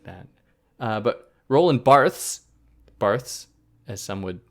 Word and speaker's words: Roland Barthes: Why are you pronouncing it like that? But Roland Barthes, as some would like me to say, Roland Barthes, has a kind of an image he provides